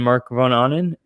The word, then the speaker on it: Marc Von Ahnen: My guest has been Marc Von Ahnen. And you pronounced it right.